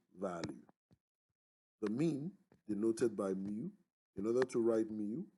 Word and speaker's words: mu: then extending the bar this is pronounced miu if you like cats then that might be easier to pronounce so the mean is